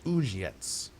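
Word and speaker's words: Uzhitz: Uzhets. That's how you pronounce it.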